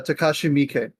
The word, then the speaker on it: Takashi Miike: Is that how do you pronounce it, Alan? Takashi Miike, Thank you.